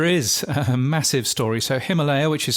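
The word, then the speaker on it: Ximalaya: So, Himalaya, which is spelled in China with an X but pronounced Himalaya.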